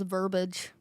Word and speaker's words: verbiage: I just thought it was verbiage. That may be the correct way to say. I don't know. No, cuz you spelled with an I. Verbiage. Verbage. And you say verbiage.